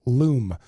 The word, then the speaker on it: Loom: the other ones called luma spelled like zoom but with an L loom so one of two